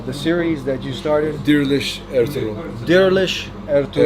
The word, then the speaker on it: Diriliş: Okay, so by now you guys know we're talking about how do you pronounce the series that you started? Diriliş, Ertuğrul.